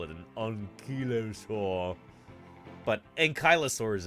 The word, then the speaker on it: ankylosaurus: it an enosa but ankylosaurus is how we pronounce it as American dinosaur pale I remember